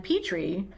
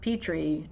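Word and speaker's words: Petry: And then we do have a joint upcoming read, The Street by Ann Petrie. We found out recently that her last name is pronounced Petrie and not Petrie, by someone who knew her.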